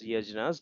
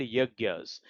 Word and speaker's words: yajnas: So yajnas it is not pronounced as yajnas these are called yagyas.